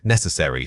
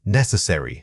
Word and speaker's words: necessary: Wrong. Necessary. Stressing the third syllable. Right. Necessary. Stressing the first syllable. This specific word is notorious for incorrect stress placement. Focus on that initial n sound and make sure it carries the strongest beat of the entire word.